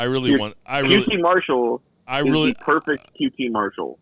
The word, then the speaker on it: Marshall: ass beat no it's marshall that's how you pronounce his name it's m a r martial it's like that movie we are marshall right no it's marshall it's just marshall it's like marshall faulk right dude it's like